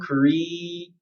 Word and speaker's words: Korea: So in a word like this, in British pronunciation, you want to go Korea, E. So make an E sound, Korea, and then Iya, Korea, Korea, Korea, Korea.